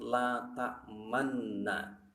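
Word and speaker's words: لَا تَأْمَنَّا: Ada kalimat la ta'manna, maka di situ harus dibaca ismam dengan cara memoncongkan bibir.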